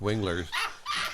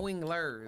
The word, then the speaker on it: Wingler: Right now I'm talking with the commander, Nick Winglers. And First off, you're saying his name wrong. What? It's Wingler, not Oh. Winglers.